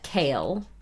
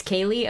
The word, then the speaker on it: Kaylee: We're gonna raid into is it Kaylee or is it Kale? I would pronounce that Kale, but it's Kaylee?